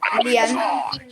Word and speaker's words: Léane: Léane. Moi, ça s'écrit.